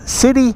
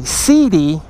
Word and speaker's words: Sidi: they're worth it guys CI excuse me CD I always say it wrong CD boots are the